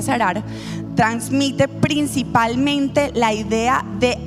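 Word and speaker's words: צרר: Es del verbo hebreo zarar. Se pronuncia sarar.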